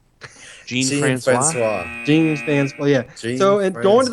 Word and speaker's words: Jean Francois: Chris, help me pronounce this guy's name. Ricky Francois? Jean Francois.